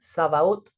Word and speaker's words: Sabaoth: Luego está Jehová, se pronuncia Sabaoth o Jehová de los ejércitos.